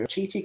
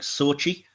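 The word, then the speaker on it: Xochitl: my pronunciation, I've got Chiti Gomez as America. It's such a weird pronunciation because it leaves out most of the letters. It's something like Sochi, which is like, It's nothing like it's written.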